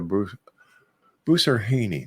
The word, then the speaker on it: Boussarhhane: That's when we come back right here with our very special guest, the psychic diva herself, Bruce Bruce Haney. There, I finally said it right.